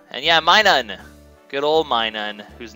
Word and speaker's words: Minun: game is uh and yeah myun good old Minun whose name I know now know how to pronounce properly that's true he was the first